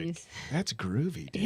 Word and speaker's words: Gruvi: that's groovy, dude. It is Groovy. And I spell it different. Oh, do you? I spell it Gruvi.